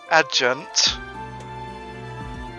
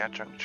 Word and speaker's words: adjunct: with professor level in fairness when whenever do you uh otherwise see an a sorry a j followed followed after a d oh adjusting i knew there's going to be something else yeah you prac yeah i pronounced the same as adjusting every adjunct here uh depending on the